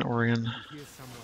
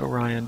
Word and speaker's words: Orion: remember who else plays an orian or Orion depending on how you say it I like Oran other people like Orion hey Queen how's it